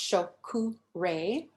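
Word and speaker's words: Cho Ku Rei: okay the reminder is the power symbol it's pronounced shoku ray all right and it basically says place the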